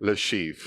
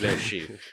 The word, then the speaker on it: Le Chiffre: Can you pronounce the Casino Royale one for me? Because you're good at it. Le Chiffre. Le Chiffre.